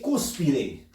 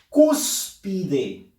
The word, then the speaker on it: cúspide: Acá dice cúspide, cúspide. Fuerza de voz en la sílaba cus.